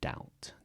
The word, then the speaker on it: doubt: can see the translation doubt doubt that b is silent again and then I